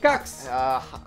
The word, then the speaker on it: Hecox: Hecox. I believe the E is silent. Cox.